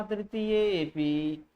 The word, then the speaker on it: तृतीयेऽपि: तो यस्यापादे प्रथमे द्वादश मात्रास्तथा तृतीयेऽपि, देखिए अवग्रह का उच्चारण नहीं किया जाता क्योंकि यहाँ पूर्व रूप संधि हुई होती है, अब पूर्व में मिल गया होता है, वह सिर्फ दिखाने के लिए है, इसलिए इस अ का उच्चारण नहीं किया जाता है, ठीक है।